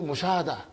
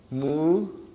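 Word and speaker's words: مشاهدة: You say in Urdu Mushahada. So because you did not pronounce tun, so it is Mushahadatun.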